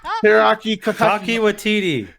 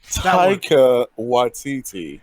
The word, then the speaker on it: Taika Waititi: The guy, Teriyaki, I don't know how to pronounce his name properly. Teriyaki? Teriyaki Taki Watiti. Taika Waititi.